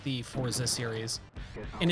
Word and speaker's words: Forza: I never like the forza series and it's Forza not fortza like how a lot of people pronounce it yes Rally Sport Challenge